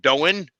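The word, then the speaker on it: Doane: Doan University in Creek, Nebraska. Yep. How's that? Okay. Don. Yep. Done. All right. One syllable.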